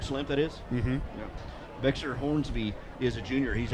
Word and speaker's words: Bexar: So is that Bexer or is that Behar? You know what? That may be Behar or Bear. Bear? Yeah, I think. Like the county? Yeah, like county. It's spelled Bexar.